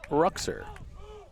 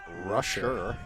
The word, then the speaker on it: Ruxer: Is Jake Ruxer. I actually believe that's pronounced Rusher.